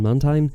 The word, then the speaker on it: Mantine: move set do you think is better on Mantine and do you call this Pokémon Mantine or